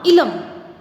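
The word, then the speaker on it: Eelam: इसका प्रोनाउंसिएशन क्या होगा? इलम, ठीक है।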